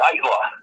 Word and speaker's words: Aittala: Ait rhymes with fight.